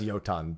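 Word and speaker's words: Jötunn: Yeah, it's pronounced yoton, but I just call them jotons.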